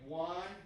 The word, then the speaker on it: Juan: It's spelled like Juan Denmark. Where do we find this set online? Kill Tony. Look up Kill Tony. Juan Denmark. So it's like Juan, like he's not the only one.